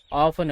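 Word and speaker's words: often: ஆபன். அடிக்கடி. ஆப்பன் அப்படி கூட உச்சரிக்கலாம். இல்லனா ஆப்டன் அப்படின்னு கூட உச்சரிக்கலாம்.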